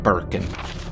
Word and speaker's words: Birkin: contact throughout this affair William Burke and rhymes with gherkin to Mr Brian irons